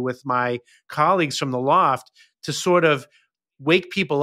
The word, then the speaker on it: L0pht: sorry I don't know how you say LZ PHT yeah we spell it that way because that's hacker LEP like you know hackers were the first ones with online culture right so we we pronounce it Loft yeah sure online culture